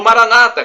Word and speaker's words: Maranata: nós católico e o Maranata com a tônica na penúltima sílaba como dizem nossos irmãos separados os evangélicos ou protestantes não importa a pronúncia o significado é o mesmo vinde Senhor Jesus um